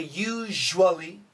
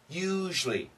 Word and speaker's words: usually: USU some people say usually usually but most Americans will say usually usually usually so it's a u and then a it's like a z h l y one syllable you usually usually usually toward